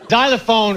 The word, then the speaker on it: xylophone: Xylophone is spelled with an X. That's wrong. Xylophone ZX. I don't see it. It should be a Z up front.